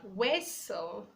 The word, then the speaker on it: whistle: We have whistle, whistle, not whistle.